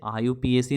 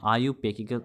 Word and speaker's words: IUPAC: और इसे आयुपीएसी नहीं बोलते हैं, आयुपेकी, इसका जो प्रोनाउंसिएशन होता है इसे हम लोग क्या बोलते हैं, आयुपेक नोमेनक्लेचर, ओके।